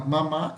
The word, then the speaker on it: mamá: Vejam, ambas são oxítonas, porque diferente dessas aqui que são paroxítonas, essa é oxítona. Por quê? Veja onde está o acento. Está na última sílaba. Se o acento tivesse na primeira sílaba, aí seria uma paroxítona. Como está na última, é uma oxítona.